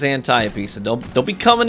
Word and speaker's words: Antiope: call it that's fine but it is a greek word a greek name of a greek character in greek mythology and the pronunciation is antiope so don't don't be